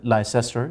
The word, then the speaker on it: Leicester: london multan leicester l-i-c-e-s-t-o-r people might pronounce it lyster that is leicester france it may include